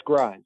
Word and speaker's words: Gries: great it is yeah i made sure to spell it incorrectly in my notes g-r-y-s so i pronounce it right okay well it's funny how if it's you know you have french fries spelled the same way except for instead of a g you know for sure